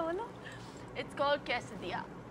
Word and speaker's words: Quesadilla: हाँ, तो अगर मैं बोलूँ कि इसे प्रोनाउंस कर दीजिए तो क्वेश्चडिल्ला। नहीं। एक और ट्राई मारो। Quesadilla. अगर फनी लैंग्वेज है इंग्लिश तो ये मैक्सिकन है। Quesadilla.